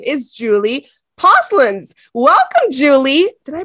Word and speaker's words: Julie Posluns: founder of cat school and her name is Julie pins welcome Julie did I pronounce that properly I did oh my goodness